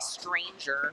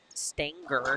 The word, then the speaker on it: Stanger: I think you did say stranger, but it looks like Stanger.